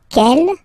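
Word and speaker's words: quelle: same way and then the feminine form is written like that q l l but it's pronounced like the masculine form Kell at the masculine k at the feminine okay so it's basically same pronunciation okay and then here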